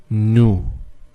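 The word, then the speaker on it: نُ: a small wow and it has the sound of O so the way you pronounce this is new new secondly we have the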